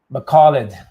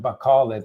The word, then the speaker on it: Bacolod: That's as good as it gets that I've been told the correct pronunciation. Bacolod, not Bacolod, not Bacolod, Bacolod. Again, my accent might throw it off a little bit, and that's okay, but I'm trying to remember that pronunciation because before I was saying it like 3 different ways.